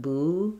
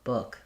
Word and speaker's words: book: So watch out for, you don't want the tense not boo, not book, but book. The tongue's a little lower in the back. The lips are not quite as pursed. It's the same as good and look, or it should be a good book, or they're pushing the book. That can help you with that vowel.